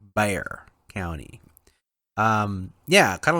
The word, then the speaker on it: Bexar: and so then now the county is called bear not bexar county for you outsiders it's bear county um yeah kind of like that you